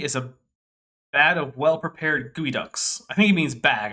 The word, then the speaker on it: geoduck: It's not pronounced the way it's spelled. I don't know why. Yeah, for some reason it's spelled like Geoduck, which sounds like the bastard offspring of Geodude and Psyduck from Pokemon first gen. But yeah, for some reason it's then pronounced Gooey Duck, and no, I don't know why.